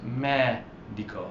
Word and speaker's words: medico: The stress is on that. Is not on the second to last. It's on the third to last. It's medico.